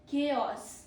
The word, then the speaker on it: chaos: CH sounds like K, not CH, not chaos, not chaos or chaos. We say chaos.